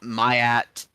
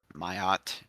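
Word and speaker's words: Ma'at: element were created uh mayat myot I've heard it pronounced both ways actually uh came after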